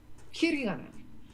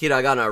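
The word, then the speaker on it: ひらがな: Hiragana. Yeah, she hasn't pronounced hiragana right once. She said hiragana. Hiragana.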